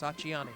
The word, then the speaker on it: Acciani: We're going to pronounce that the right way. It's Acciani. Acciani, okay.